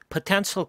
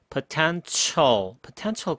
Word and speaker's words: potential: 잠재 고객이라고 토익에 정말 자주 나오는 잠재 고객이라는 단어가 있는데 potential customer라고 하거든요. 여기 나오는 potential customer. 철 이렇게 한번 발음을 해보세요. 훨씬 더 유창하게 들립니다.